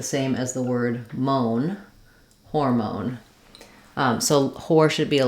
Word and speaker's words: hormone: video for that but in hormone just make sure that you're not letting it become an R sound you don't want